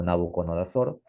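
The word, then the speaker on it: Nabucodonosor: asim mismo o sea más conocido como nabuconodosor si en realidad se pronuncia nabuc coner Eh Así lo fue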